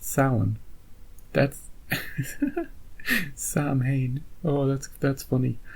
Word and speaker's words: Samhain: sound the end of summer yeah don't don't pronounce it Samhain that's it's it's pronounced sound that's oh that's that's funny look Irish words